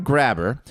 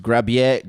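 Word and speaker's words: Grabher: of his last name which may be pronounced grab yet grab a or grabber or grab EA but but it's spelled GRA b h ER grab her you can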